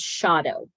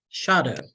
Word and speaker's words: Schotto: going to make a minor correction to how my name is pronounced the last name is shadow shadow all right y well